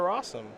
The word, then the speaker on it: Rosum: Let's go over to Rosum, which, as you know, rhymes with possum.